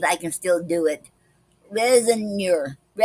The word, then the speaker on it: raisonneur: Resinor. It's spelled Raisonneur.